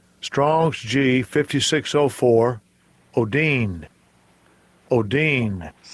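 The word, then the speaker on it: ὠδίν: Let's let you hear how this word is pronounced in the Greek. Strongs G5604 Odin Odin. So it's pronounced Odin.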